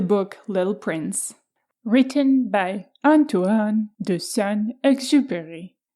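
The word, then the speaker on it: Antoine de Saint-Exupéry: Little Prince written by antoan the son exu there was my attempt for the right French pronunciation so The Little Prince tamed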